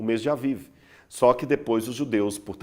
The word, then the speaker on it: Aviv: Esse mês de Abib, ou Aviv, que seria a melhor pronúncia, significa mês da primavera.